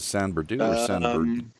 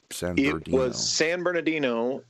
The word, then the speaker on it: San Bernardino: which one was it was a San Berdoo San Bernardino in in I believe in the song route 66 it's the full proper pronunciation and then there's a